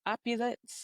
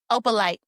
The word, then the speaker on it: Opalite: But did you see what they were talking about with that opulence? No, I'm saying it wrong. Opalite, which is Opalite.